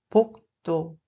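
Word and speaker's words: 복도: Le deuxième mot est pokto. Pokto. Pokto. Il s'agit d'un couloir. On le prononce en réalité comme pokto.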